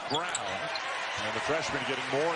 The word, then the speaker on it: Braun: Looks like Braun, pronounced Brown.